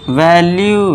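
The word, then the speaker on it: value: अब लास्ट में UE आ गया तो इसे पढ़ेंगे परस्यू, परस्यू, UE फिर से, वैल्यू लास्ट में यू आ गया, ठीक है दोस्तों।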